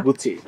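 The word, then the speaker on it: Gucci: এবং এটা হচ্ছে এই টিশার্টটা কিসের টিশার্ট এটা গুছি নাম কি গুছি উচ্চারণ গুছি গুছি গুছি হ্যাঁ গুছি বলে নাকি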